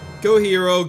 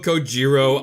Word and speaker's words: Kojiro: Koihiro, Kojiro, I'm pronouncing it the Spanish way, which pronounces their J's as H's.